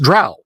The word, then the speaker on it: drow: Well, I mean, there's only one way that's pronounced, Drow.